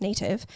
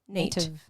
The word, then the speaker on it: Nat'v: It's not spelled like native. It's N-A-T, like apostrophe, like Nate. Yeah. Native.